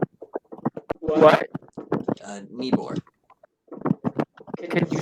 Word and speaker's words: Nibor: Nibor. What? Nibor. Can you spell that?